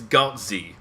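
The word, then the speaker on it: Glatze: but it's not beef the word is godzi it's a German word and it's spelled g-l-a-t-z-e what do you think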